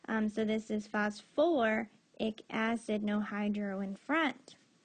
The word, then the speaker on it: phosphoric: And we said for phosphorus and sulfur, we keep that extra syllable in. So this is phosphoric acid, no hydro in front.